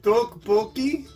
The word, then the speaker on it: Topokki: Is it Topokki? Topokki? Topokki? I said it like 5 times. And he's like, yeah, that's how you say it.